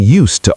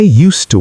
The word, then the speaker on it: used to: The D sounds like T.